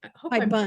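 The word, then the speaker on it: haibun: What I chose was a high bun. I hope I'm High bun. pronouncing it right. I think you are high bun, yes.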